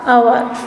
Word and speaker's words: hour: So we will do over here HOUR, our, HOUR, ours. So H is silent over here.